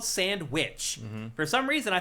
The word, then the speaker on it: SandWitch: have called it Caravan Sandwitch. But it's really a play on words. It's the Sand Witch. It's spelled like the witch, like the Wicked Witch of the West or whatever.